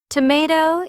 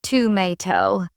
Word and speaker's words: tomato: Tomato is tomato in British English, not to me. That version feels more rounded and traditional.